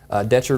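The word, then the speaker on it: Decherd: This is Highway 64, riding all the way through Franklin County, all the way out to Winchester, Detchard or Deckard, depending on how you pronounce it.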